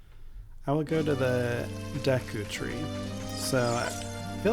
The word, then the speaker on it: Deku: you what it was Deku is also something I pronounce very differently I pronounced it diku as a kid that one for some reason was one of the harder ones to break habit-wise I always